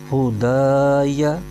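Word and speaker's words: هداي: ہجے یوں کریں گے، ہا پیش ہو، دال الف زبر دا، یا زبر یا، ہدایا۔ آگے فا پر زبر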